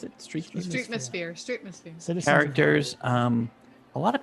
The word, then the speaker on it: Streetmosphere: How do you pronounce it? Streetmosphere.